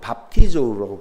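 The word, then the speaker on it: βαπτίζω: 이 뵙티즘 이거는요, 이 단어는요 어디서 왔냐면 헬라어 뵙티조라고 발음하는, 발음은 밥티조라고 발음이 되겠죠.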